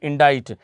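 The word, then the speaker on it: indict: डी आई सी टी इंडा इट इंडा इट कहते हैं बेटा किसी पर इल्जाम लगाना सी साइलेंट होगा इंडा इट और इसका एंटोनीम होगा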